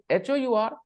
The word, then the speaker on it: hour: just look at this and when you said h o u r h o u r n o u r